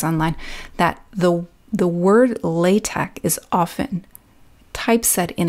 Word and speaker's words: LaTeX: Now, you might be wondering why it's spelled L A T E X. And I keep saying latte and not latex. The letter at the end of the word is actually not an X.